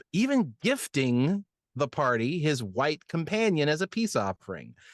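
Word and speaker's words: wight: Previously on Players & Book, fly for a white god, but it's spelled w i g h t to be clear.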